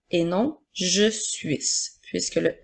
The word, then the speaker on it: suis: deux lettres i s fait bien attention pour te rappeler que la lettre S est une lettre muette et qu'il faut bien lire je suis et non je suis puisque le s est